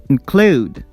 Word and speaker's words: include: Relax, produce, include, begin, become, forget, enjoy, enjoy, receive, receive. We stress the second syllable.